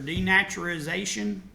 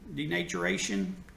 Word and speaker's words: denaturation: Denaturation or denaturization. Denaturation is how you say it.